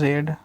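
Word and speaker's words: read: मेरा आई शैल आई shall have पढ़ना का रेड इसका तीनों स्पेलिंग सेम होता है रीड आर एडी आर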